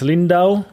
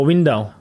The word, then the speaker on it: Windau: In Germany, it's Lindau. No, Windau.